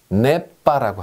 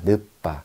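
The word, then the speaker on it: ne pas: 자, 영어에서 not은 프랑스어에서는요, 네빠라고 합니다. 네빠. 혹은 늦빠라고도 합니다. 늦빠.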